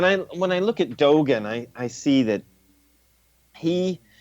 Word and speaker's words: Dogen: And Dogin, is that the way you say his name? Dogen. Dogen, thank you.